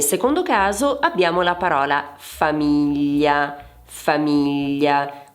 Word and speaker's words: famiglia: Nel secondo caso abbiamo la parola famiglia. Famiglia. Qui abbiamo tre sillabe e l'accento va su mi.